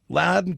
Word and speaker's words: Loudoun: county that is correct loudoun county loudoun county loud and clear county uh tanner cross uh